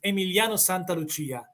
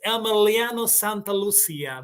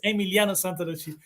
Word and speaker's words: Emiliano Santa Lucia: Also, Emiliano Santa Lucia is the correct pronunciation is Emiliano Santa Lucia, But you in English says Emiliano Santa Lucia, but the real pronunciation is Emiliano Santa Lucia.